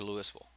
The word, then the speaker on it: Louisville: How do you pronounce the capital of Kentucky? Louisville or Louisville?